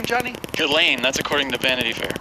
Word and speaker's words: Ghislaine: How do you pronounce her name, Johnny? Ghislaine, that's according to Vanity Fair.